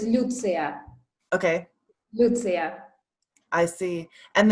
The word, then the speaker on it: Lyutsiya: tell me your name so my name is pronounced as lucia okay lucia i see